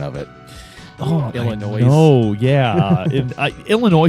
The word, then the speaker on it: Illinois: Illinois. No, yeah, Illinois says like fingers on a chalkboard to me. I can't stand when people pronounce the S.